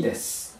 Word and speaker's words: です: ないでしょ意ね好きです最後の運発音してないですよでそれ